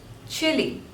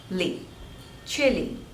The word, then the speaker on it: Chile: Canada next is Chile Chile so there are two syllables and stress is on the first one chili chili chili next one is